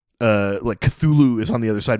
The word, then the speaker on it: Cthulhu: Yeah, and even the name Cthulhu, the way I'm pronouncing it is not the way Lovecraft pronounced it. Oh, I can't even do it how he pronounced it. It's supposed to be more like Hluluthu or something like that.